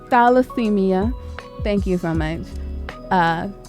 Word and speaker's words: thalassemia: it up because I'll be calling it thermite dallasemia thalassemia thank you so much uh chronic acute chest